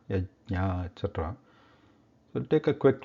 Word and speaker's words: यज्ञ: Sometimes it is pronounced like Yagya, Yajna, etc.